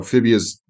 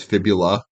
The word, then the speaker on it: fibula: So fibia's not right. It's fibula, tibia, Mhm. and fibula. I'm assuming he just said it like that, so it rhymes.